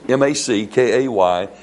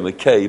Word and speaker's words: MacKay: So, the Scots National Dictionary said this, the real MacKay, m a m m a c k a y, it's we would say McKay, but they would pronounce it MacKay, is a Scots phrase